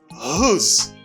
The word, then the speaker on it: whose: You say whose. W a pas prononcé. Pas dit whose, ou dit whose.